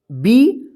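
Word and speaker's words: bee: जैसे यहां पे देखिए बी डबल ई, इसको क्या पढ़ेंगे? बी। देखिए यहां पे बी है और क्या है? डबल ई एक साथ है तो इस डबल ई का ई उच्चारण होगा, ठीक है।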